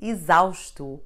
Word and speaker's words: exausto: quite simple in fact x is read like z whenever it is preceded by the letter e and followed by any vowel it will be the first letter of a syllable but having an e behind forcing the sound of the x to become z so words like exemple isam or izaustu are all read with the zoo sound all these words come